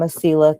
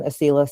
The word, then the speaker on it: Asila: So I'm Asila. Asila sounds a little bit like tequila, if that helps you remember how to say my name.